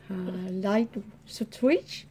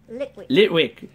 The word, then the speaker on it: Litwick: Light switch? Litwick.